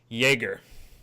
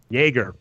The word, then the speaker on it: Joerger: how you say it Jager Jager like Jager Bomb perfect exhibit bigger is